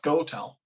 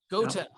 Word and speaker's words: Gotell: Is it Gotell? Just Gotell. Gotell. And I like how it's just as you say it.